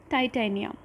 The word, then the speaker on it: Titania: Another one is Titania. I know everybody must be remembering the movie Titanic. Her name resembles it, so that is Titania.